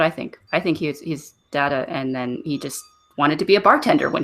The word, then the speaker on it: Dagda: one is it's actually it's not Dagda its data don't produce a ji-hae